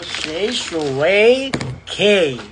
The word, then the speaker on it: Shae Shue K: Wow, Shay Shui K. Ayan ha. Yan is yung pagka-pronounce.